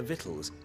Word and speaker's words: victuals: I've never seen the word victuals spelled like that. I've always seen it V-I-T-T-L-E-S. I would not have imagined it victuals.